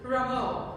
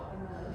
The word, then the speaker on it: Rameau: Rameau. Rameau.